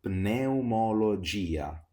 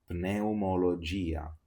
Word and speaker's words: pneumologia: When we have P plus N, we always have to pronounce the letter P.